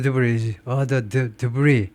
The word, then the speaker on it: debris: 그 무슨 이제 철근한 그런 콘크리트 이런 구조물들이라든가 여러 가지 파손된 기초 건물 기초 부분들 and other debris s를 발음하지 않고요. 불어에서 나왔기 때문에 기타 잔해들을 haul away 하는 겁니다.